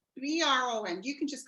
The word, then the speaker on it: Bron: me Bron. B-R-O-N.